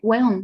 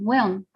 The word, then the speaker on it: weón: But you have to make it like, it's not weón, it's like weón, weón. Super fast.